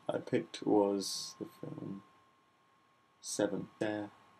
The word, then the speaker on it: Se7en: So the first thing I picked was the film Se7en. Se7en. It's spelt weird, the title of it.